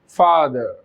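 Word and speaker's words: father: British में जब कभी भी लास्ट में आर, और आर से पहले अगर कोई वोवल आ जाता है, स्पेशली आर से पहले कभी कोई वोवल हो जाता है, तो यहाँ पर ये साइलेंट हो जाता है, फादर।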